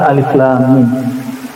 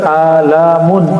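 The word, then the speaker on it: الم: ayat-ayat seperti ini dan dibacanya bukan alamun alamun artinya penyakit sakit tapi kalau Alif itu satu huruf satu makna satu makna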